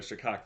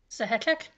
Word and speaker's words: Sahek: The Shak, the headache demon. Sahek. Yeah, there you go. I always pronounced that wrong.